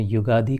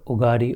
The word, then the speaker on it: युगादि: ये जो WhatsApp पे इस पर उगारी उगारी चलता है। वो अंग्रेजी में स्पेलिंग करने के कारण उगा। उसका वास्तविक संस्कृत में प्रारंभ में है युग आदि युग का प्रारंभ युगा आदि ये जो हम लोग